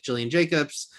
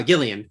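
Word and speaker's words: Gillian Jacobs: people that obviously I know very well like Jillian Jacobs. Uh, Gillian Gillian, how did I say her name wrong?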